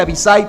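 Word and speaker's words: Abisai: están sus primos avishai que por cierto se pronuncia avishai porque no tiene acento avishai hasta él está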